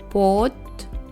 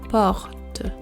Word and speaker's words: porte: Now I will pronounce the two words wrongly then correctly. O, or, O, or. Porte, porte, porte, porte.